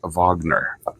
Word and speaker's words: Wagner: the composer is rard Vagner it looks like Richard Wagner okay but in German it's rard Vagner okay with this okay